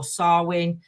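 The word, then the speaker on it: Samhain: you look up the history of Halloween or sarwin I pronounced it now I remembered it um if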